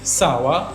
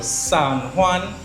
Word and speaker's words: San Juan: Today I went and visited some friends in Sawa or San Juan, as you properly pronounce it.